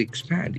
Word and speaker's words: expand: They expand. E-X-P-A-N-D. So this is a very interesting verb. Expand. Expand. There are two syllables and the accent falls on the second syllable.